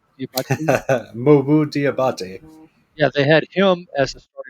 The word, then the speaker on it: Diabate: They had okay, say his name for me, Diabate. Mobu Diabate.